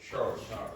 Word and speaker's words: chore: How do you pronounce that again? Chore.